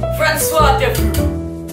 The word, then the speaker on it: François de Foot: It is I, François de Foot, that tea is silent, like your mama when I gave her the beginning.